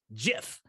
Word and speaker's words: GIF: dictionary is talking about he said it's a soft g pronounced jeff it's a gif everybody